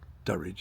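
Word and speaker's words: Druridge: way up to Duridge which is spelled Doridge but people locally say Duridge as though it was a U.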